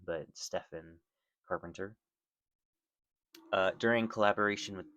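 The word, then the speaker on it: Stephen: So now I know that that's how you actually pronounce his name. I kept calling him Steven, but Stefan Carpenter.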